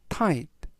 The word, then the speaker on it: tight: 뜻이 되겠습니다 이번 단어는 tight TI라고 발음하시면 되겠고요 이때 gh 이번 단어에서 무음이라 발음이 되지 않습니다 품사는 형용사 뜻은 등이